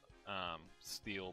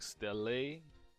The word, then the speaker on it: Stele: I mean, I say steel, but some people like stele. There needs to be a rule on how you pronounce cards. Machina or Machina? What's another one? Vayu. So Descendant is pretty big here. I give Maestro a tough time here. Steel is correct.